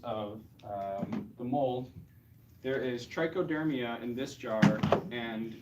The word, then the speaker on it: Trichoderma: out some forms of the mold there is Trichoderma in this jar and Trichoderma and these so I'll pass the trunk this